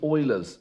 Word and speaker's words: Euler: So we're going to use Euler's relationship. Sometimes best pronounced Euler.